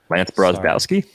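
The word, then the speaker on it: Brozdowski: So Lance Brozbowski? Yeah. You got that pronunciation right.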